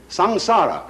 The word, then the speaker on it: samsara: is called by this important term in sanskrit s a m s a r a samsara it's pronounced samsara and although samsara is represented in